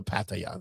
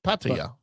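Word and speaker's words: Paia: It's called No, it's Paya. That's how they say it over there.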